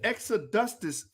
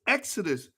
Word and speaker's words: exodus: extra dusters movement that what is the extra dustus it's exodus ah i'm sorry i'ma